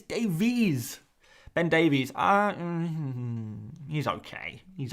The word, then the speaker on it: Davies: one ben ben davies it's not davis it's davies ben davies he's okay